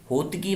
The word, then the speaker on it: होताकी: ये होतकी नहीं है, होताकी है, होताकी है। होताकी वंश था ये।